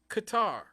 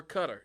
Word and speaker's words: Qatar: just behind Romania and Qatar or Cutter depending on you know how you pronounce it this research team said